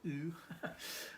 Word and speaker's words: OOO: called object oriented ontology often abbreviated as ooo some people pronounce it ooh um but yeah so